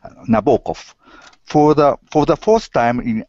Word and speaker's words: Nabokov: We say it wrong in English, so you can say it right. So I'll say in Russian, Nabokov.